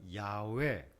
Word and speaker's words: 야훼: 하나는 야훼, 여호와. 이건 발음의 차이입니다.